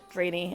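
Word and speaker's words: draenei: D the the drainy I will be saying drainy not Dr or drenai or any other pronunciation they are the draes and uh I'm not going to change that anywhere I know it's ji but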